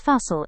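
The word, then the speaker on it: fasten: Then our next word is fasal. Hindi mein iska matlab hai bandhna. It is pronounced as fasal instead of fasal, dani.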